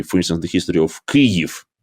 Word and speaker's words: Kyiv: keep, as earlier, this Russian phonetic version of Kiev. And believe me, quite often, even people who are sincerely supporting Ukraine nowadays and sincerely tries to understand, it is hard for them to accept Kyiv instead of Kiev, or to accept Odessa with one S.